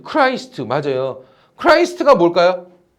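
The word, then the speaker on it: Christ: 크라이스트가 뭘까요? 예수를 크라이스트라 그래. 지저스 크라이스트라 그러죠. 됐습니까? 어 그니까 그걸 줄여서 우리 우리 식으로 이제 발음이 우리가 줘도 안 되니까 크리스트라 그러는 거고 원래는 크라이스트 크라이스트 그러니까 예수님 탄생보다 이전이다.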